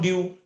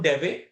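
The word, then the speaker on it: Dewey: education system right John ड्यू John John ड्यू या John डेवे okay pronounce आप कैसे भी कर सकते हो हु वास ए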